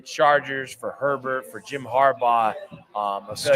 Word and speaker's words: Harbaugh: always thought it was Harborough. Everybody says that. Mhm. My dad has always said that too. It took me forever, but then it was like, okay, Harbaugh, like you're not really pronouncing the last part of it.